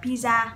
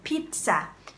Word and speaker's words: pizza: Thì khi các bạn phát âm trong tiếng Anh không phải là pizza, đấy là cách nói tiếng Việt, ok? Khi bạn phát âm trong tiếng Anh phải là phát âm pizza. Cái từ y ở cái âm đầu tiên được phát âm là y dài y. Pizza, pizza, pizza problems, ok?